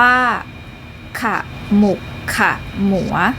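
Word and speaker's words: ขมุกขมัว: ตอน ที่ 3 ค่ะ ขมุก ขมัว อ่าน ว่า ขมุก ขมัว ปรัมปรา อ่าน ว่า ปะ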